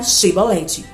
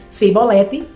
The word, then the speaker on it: chibolete: Se respondesse que não, diziam: "Então diga chibolete." Se ele dissesse cibolete, sem conseguir pronunciar corretamente a palavra, prendiam-no e matavam-no no lugar de passar, no lugar de passagem do Jordão.